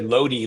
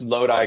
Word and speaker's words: Lodi: Most people say Lodi like it rhymes with Jody, but you actually pronounced Lodi correctly.